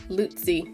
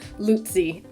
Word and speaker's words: Lu-Tze: I tried to look it up and there wasn't really consensus, but I kind of tried to find some videos where people actually said his name so that I could get a sort of accepted, this is how you say it kind of pronunciation. So I'm like, okay, somebody else said it, Lu-Tze. That seems to be the consensus.